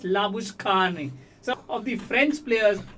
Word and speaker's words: Labuschagne: So similarly, for example, Manas Labuschagne, it's not Manas Labuschagne, it's Manas Labushkhane.